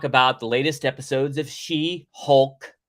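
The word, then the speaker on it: She-Hulk: the latest episodes of She Hulk I'm going to say it right this time she Hulk not Hawk like it's a hot Flying Like a Bird She Hulk I'm gonna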